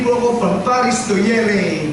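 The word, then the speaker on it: Yerres: So nag-train po ako from Paris to Yere. They pronounce it Yere, but spelled as Y-E-R-R-E-S-S, Yeres. Pero sa nila, Yere.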